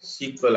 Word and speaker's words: SQL: called as SQL right SQL actually they pronouns are SQL right they pronouns as sequel actually people were going to be pronounced this one as sequel actually so this is